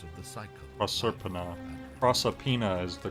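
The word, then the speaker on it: Proserpina: what did you mean when you said uh proser penis I mean you see in my search for a way serpenter the goddess of the cycle a serpenter prosopina is the correct pronunciation is through it and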